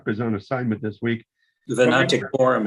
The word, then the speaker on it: Venaticorum: Y Canum Vernaticorum. Vernaticorum. You guys know how to pronounce these things. Yeah. Certainly, Chuck does, and Chuck is on assignment this week. Venaticorum is correct.